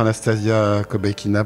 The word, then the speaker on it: Anastasia Kobekina: j'ai le très très grand plaisir de recevoir Anastasia kobekina bonjour bonjour est-ce que j'ai bien prononcé ou ça va oui parfait parfait donc